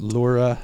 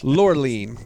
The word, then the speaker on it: Laureline: Laura. I'm going to be real pedantic about some of these pronunciations. Laureline.